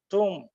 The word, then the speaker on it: tomb: something worth noting yes the letter B is silent we should say to